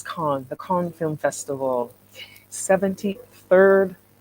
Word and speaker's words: Cannes: film festival 73rd um i'm saying cam in french it's khan the kong film festival